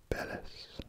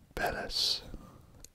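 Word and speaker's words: Belize: I took a little bit of Spanish in high school, and I think the letter Z. Is meant to be pronounced like an S. So I think this is Belis.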